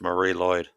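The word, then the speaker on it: Mari Lwyd: community and as pronounced Marie Lloyd is definitely not spelled that way but you know that's that's how it's pronounced um and it it's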